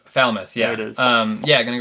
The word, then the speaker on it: Falmouth: race fat sound good foul mouth yes foul mouth no Falmouth Falmouth yeah it is yeah